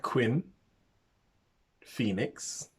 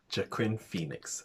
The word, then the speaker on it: Joaquin Phoenix: However, I don't know if I'm going to say his name right, so forgive me, but Quinn Phoenix. One second. Joaquin Phoenix.